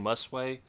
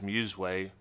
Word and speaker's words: Musway: some Muse way products I've been saying must weigh Forever Until You corrected me and tell me it is Muse way which is good to